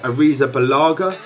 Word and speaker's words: Arrizabalaga: I believe it's pronounced Arrizabalaga.